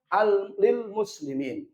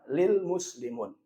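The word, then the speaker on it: لِلْمُسْلِمِينَ: Maka bacanya lil muslimin, bukan lil muslimun.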